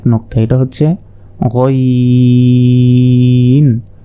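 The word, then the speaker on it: غين: এরপর দেখুন আইনের মতোই কিন্তু উপরে 1 নোক্তা, এটা হচ্ছে গইন। হলকের শেষ ভাগ হতে গইন উচ্চারণ হয়, গইন, গইন।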